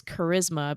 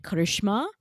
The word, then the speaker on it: Charisma: So my name is Charisma, but people will, like, brown people will be like, Karishma.